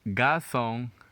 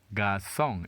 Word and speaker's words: garçon: The word is pronounced garçon, garçon.